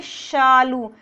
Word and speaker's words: शालू: यहाँ हमें क्या बोलना है, शालू। इसका उच्चारण हम सालू नहीं करेंगे, इस तरह का जो उच्चारण होता है वो गलत होता है।